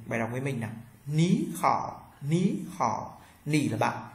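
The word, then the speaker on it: 你好: đọc thành dấu sắc hai Thanh Ba đi với nhau Thanh Ba thứ nhất đọc thành thanh hai ok và cái vấn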